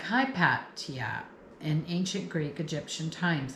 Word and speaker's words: Hypatia: So, her name is Hipatia or they didn't pronounce the H. So, Hipatia H Y P A T I A. Hipatia. Or some people might pronounce it Hepatia or you know everyone